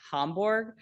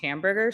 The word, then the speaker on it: Hamburger: Christian hamburger it's prob it's probably pronounced hamborg but my daughter told me it was pronounced hamburger so that's what we're going with um he was he